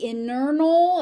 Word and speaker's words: internal: This t actually has to be there because if you say internal it nobody's going to understand what you're saying. Internal. So that T actually does need to be there.